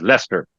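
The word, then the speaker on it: Leicester: I mean you got you call it Lester it's not even written as Lester it's written something else can you even pronounce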